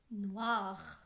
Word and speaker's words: noire: Noir. স্ত্রীবাচক শব্দের ক্ষেত্রে NOIRE। Noir. এই শব্দটির ক্ষেত্রে আমরা দেখব বানান কিন্তু পরিবর্তন হচ্ছে, উচ্চারণ সেইভাবে পরিবর্তন হচ্ছে না।